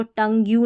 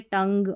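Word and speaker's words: tongue: Rule number 19 है pronunciation of GUE, यानी शब्द के अंत में GUE हो तो GUE का उच्चारण ग होता है, ठीक है, ये ध्यान रखना है।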